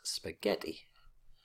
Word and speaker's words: spaghetti: on any syllable, and with Spanish and Italian it's the second last syllable which always carries the stress. So it's spaghetti, cerveza, cappuccino, as you probably already know.